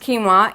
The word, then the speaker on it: quinoa: It says that quinoa, pronounced quinoa, is not a true grain.